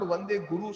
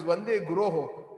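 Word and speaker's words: guroḥ: When we sing the Mangalarti, it is not Vande Guru Sri Charnarvindam. Some of us are mispronouncing. It is Vande Guroho.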